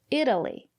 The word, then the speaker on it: Italy: If it's not stressed, we pronounce it as D, Italy.